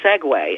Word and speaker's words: segue: have the weird dichotomy like a word like segue SE gue I I mean you've seen the